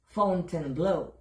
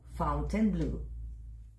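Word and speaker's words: Fontainebleau: sa Las Vegas Nevada ito ho ay isang French word na kung i-pronounce ko nila ay fountain blue Pero dito ho sa Vegas fountain blue at dito rin ho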